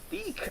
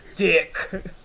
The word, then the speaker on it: DiC: It's not Deek like how they pronounce it. It's Dick. Dick.